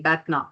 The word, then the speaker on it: BATNA: I'm not sure if I'm pronouncing BATNA. it correctly, BATNA. Yep, BATNA.